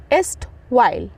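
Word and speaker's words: erstwhile: एल ए एस्ट वाइल देखो यहां पे ना ई आर जो है ना थोड़ा सा साइलेंट है तो यहां पे स्ट वाइल पढ़ेंगे स्ट वाइल ओके स्ट वाइल ई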